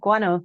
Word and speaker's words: guano: And when I went for walks, and the pathways led underneath the bridge, you could see the guano. I'm not sure if I pronounced that properly. Yeah, guano, you got it.